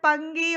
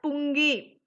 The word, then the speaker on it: pungi: Don't pronounce it as pangi or panji. It is a Hindi word. So we have to pronounce it as pungi.